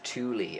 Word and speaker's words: Thule: So Thule is the German pronunciation. I think us over here, certainly Britain and America, probably I call it Thule, as you just did,